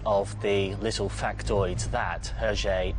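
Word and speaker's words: Hergé: the little factoid that herje is simply the initials pronounced with the weird french pronunciation of letters oh i shouldn't really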